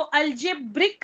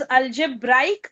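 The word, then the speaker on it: algebraic: जो शब्द आहे तो अल्जेब्रिक नाहीये बरेच जण अस म्हणतात फॅक्टरायझेशन ऑफ अल्जेब्रिक एक्सप्रेशन पण तुम्ही स्पेलिंग मध्ये पण हे चेंज तुम्हाला दिसेल की हा ब्रिक नाहीये इट इज अल्जेब्राईक expressions okay factorisation of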